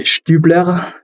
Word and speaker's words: Stübler: Stübler. Did I pronunciate it? Did I get close to the pronunciation there? Stübler? That was close. It's a German name, so I would probably say Stübler, but Stübler.